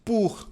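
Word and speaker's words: pour: mesma coisa aqui ó nós falamos pur Olha aqui a transcrição pur pur e quando tiver o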